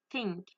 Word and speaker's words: think: La première, je l'ai mal dit que j'ai pas mis ma langue entre mes dents et la deuxième, j'ai mis ma langue entre mes dents. Du coup, j'ai réussi à la prononcer. Donc, on entend bien la différence entre think.